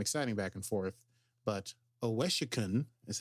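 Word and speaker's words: Owosekun: case there's some exciting back and forth but oesen is how it's pronounced OES and Detmer yes uh managed to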